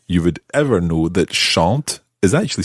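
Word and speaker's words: chantent: with this how you would ever know that shant is actually spelled c h a n t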